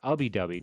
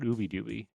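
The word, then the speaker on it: Ubbi Dubbi: It's Ubby Dubby, not Ooby Dooby.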